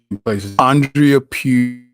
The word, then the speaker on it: Andrea Pugh: thing I'm either gonna under pronounce or over pronounce and I don't want to do either let's go for it Andreea pew you did direct that was it right there